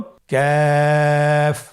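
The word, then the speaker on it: كاف: আবার বলুন কাফ। কাফের মাখরাজ আমরা স্ক্রিনে দেখতে পাচ্ছি। কাফের মাখরাজ হলো জিহ্বার গোড়া থেকে একটু আগে বাড়িয়ে তার বরাবর উপরে তালির সঙ্গে লাগিয়ে উচ্চারিত হয়।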